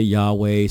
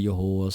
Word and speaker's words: Yahweh: So some people say Yahweh, some say Yahuwah, some say Yahuwah.